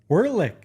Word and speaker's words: Werlich: We got Ryan Werlich. Werlich. So you all know. That's how you say it.